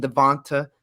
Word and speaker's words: DeVonta: I always get his name wrong. I believe. Yeah, Devonta. I was right. Devonta Smith.